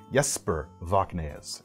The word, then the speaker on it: Jesper Voxnaes: I'm sure I'm not the only person who became a big fan of Jesper Voxnaes. Sorry, I need to pronounce his name right. Jesper Voxnaes, improving all the time.